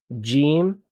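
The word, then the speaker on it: جيم: So when you're saying Jim, just you're doing it right, but just make sure you have like the E sound.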